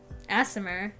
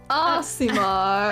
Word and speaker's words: Aasimar: I think she was actually a, Aasimar, maybe.